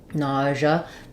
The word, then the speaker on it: nausea: um so NAA um the first way would be first syllable stress letters Au you say a like in Saw NAA the the um letter